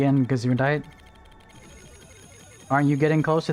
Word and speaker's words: Gesundheit: Oh, is that Gesundheit?